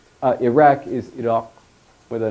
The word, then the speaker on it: Iraq: stop uh-huh it's like the how you should pronounce Iraq is it off with a nice cue at